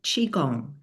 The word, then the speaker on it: Qigong: So Lori Lehman is actually a health and wellness instructor, and she specializes in Qigong. I don't know if I pronounced that correctly.